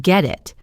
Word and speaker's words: get it: The T in get is followed by the vowel I in it. So it links and the T sound becomes a soft D or a flap T sound common in American English. It sounds like get it.